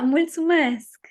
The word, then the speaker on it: mulțumesc: I think I pronounce it correctly, is it multi-mesc? How do I say thank you? Oh yeah, mulțumesc. Yeah. There we go. So make sure my pronunciation was okay.